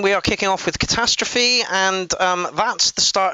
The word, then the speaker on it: Katastrophy: do that right so catastrophe cat's ass trophy have i pronounced that right i don't think i have no catastrophe apparently this was